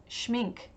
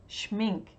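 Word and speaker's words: Schmincke: Ranade says schminke schminke you pronounce the e she mean gay schminke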